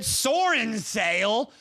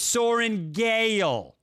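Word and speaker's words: Sorrengail: Sash, I'm going to need you to learn how to pronounce the name properly, okay? I know it's hard coming from me, but God bless America. That is an easy name, okay? It's Sorengael.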